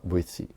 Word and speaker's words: Boétie: Se escreve Boétie, com T. Você fala Boétie.